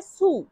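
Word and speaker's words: su: উপরে এর ইতালিয়ান অর্থ হবে সু, সু, সু, সু অর্থ উপরে।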